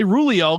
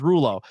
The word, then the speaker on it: Rulo: no Rulo Rulo I I say rulio because I don't know why my brain does it but it's Rulo um and I said